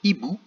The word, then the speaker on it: hibou: le mot tout seul on dirait hibou comme si le h n'existait pas et rond comme si